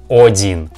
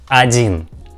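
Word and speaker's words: один: letter ah i mean we don't pronounce like odin odin because we see that this figure uh write with the letter o but we pronounce this figure like adin adin not odin adin adin okay go next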